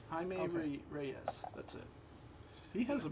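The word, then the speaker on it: Jaime Reyes: Jamie Rise. Himeme Ramirez. Reyes. That's it. Himeme Reyes.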